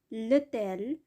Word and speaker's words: hôtel: l'homme, the man, l'hôtel, the hotel, এটাও silent H দ্বারা শুরু হয়েছে।